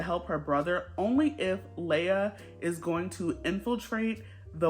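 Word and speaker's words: Laia: character of this book I think you pronounce her name Leia it's spelled l a i a I'm going to say Leia her and her family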